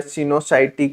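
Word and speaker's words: coenocytic: এটাকে আমরা ওইটা বলেছিলাম কোয়েনোসাইটিক এইযে যেটা উচ্চারণ করবে সিনোসাইটিক কোয়েনোসাইটিক একই ব্যাপার এইটা সিনোসাই মাইসিলিয়াম ইজ আসেপটেড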